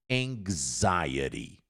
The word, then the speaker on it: anxiety: Como é que você olha pra palavra anchieti e pronuncia anxiety?